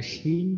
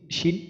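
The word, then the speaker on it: شين: আর শিন যখন উচ্চারণ করবো, শিনটা উচ্চারণের সময় আমাদের মুখ ভর্তি বাতাস থাকবে।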